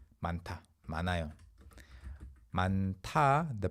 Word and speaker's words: 많아요: the present tense, it's 많아요. Yeah, 많아요. You don't pronounce the 히읗 there unless you have other consonants.